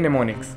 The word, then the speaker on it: mnemonics: है, क्या है कि निमोनिक्स में एम से शुरू होता है, तो एम इसमें साइलेंट है, एम एन ई एम ओ एन आई सी एस, ये इसकी स्पेलिंग है, इसको बोलते हैं निमोनिक्स।